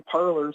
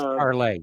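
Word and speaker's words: Parler: I know she's on Parlor, so if you got Parlor, uh, you could check her out on Parlay. It's pronounced Parlay.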